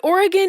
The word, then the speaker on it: Oregon: But Oregon is 3 syllables. It's 2. People don't say Oregon. I do say Oregon. No, it's Oregon.